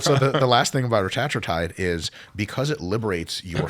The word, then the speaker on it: retatrutide: And by the way, I like the way you pronounce it correctly, and I call it retatrutide, but the correct way to pronounce it is Retatrutide.